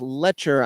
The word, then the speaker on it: Lecher: Oh, I'm sorry, it's Lecher. I mispronounced.